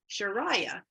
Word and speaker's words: Chiraya: to PR be pronounce it and have people pronounce it sharaya and so it's obviously fine in this presentation